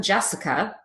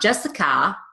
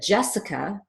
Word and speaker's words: Jessica: ah Ava Olivia Emma and because this final a is at the end of a lot of female names mine is one of them Jessica not Jessica not Jessica but Jessica getting this to be a habit pronouncing the up instead of aa will really improve your